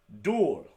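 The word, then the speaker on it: 둘: Dul. Sounds like dual.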